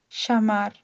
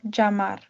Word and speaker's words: llamar: The use of the double l in many Spanish speaking countries sounds similar to a y but in Argentina it can have a sh or j sound. For example, the word to call meaning yamar would be shamar or jamar.